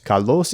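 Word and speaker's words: καλῶς: Kalos is just the adverb form of the very famous adjective, also kalos. It's just like with orthos and orthos. Kalos. The pronunciations of each pair are the same.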